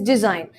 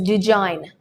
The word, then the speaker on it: design: take the word design the correct pronunciation for this word is design however there are some people who must pronounce it well if you go to places like North India where people's native language is Hindi some people tend to pronounce it as do join well if you say